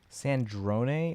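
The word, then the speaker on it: Sandrone: Sandron is how it's pronounced.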